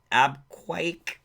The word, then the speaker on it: Abqaiq: The strikes against the crucial oh my god, I'm going to screw up this pronunciation, ABQAIQ, Abquake processing complex and the country's second biggest oil field, Khurais, were claimed by Yemen's Iran-aligned Houthi rebels.